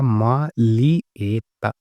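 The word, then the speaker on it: maglietta: इसके बाद में टी शर्ट, तो टी शर्ट को हम बोलेंगे मालिएता, मालिएता, जी एल आई ये हो गया ली, जी साइलेंट रहेगा। मालिएता, मालिएता ये हो गई टी शर्ट।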